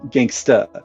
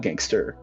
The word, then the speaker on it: gangsta: Gangsta, not gangster. Yeah, that's right. You gotta drop that R, Those boy.